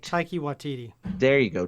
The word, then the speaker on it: Taika Waititi: Taika Waititi. There you go. Taika Waititi.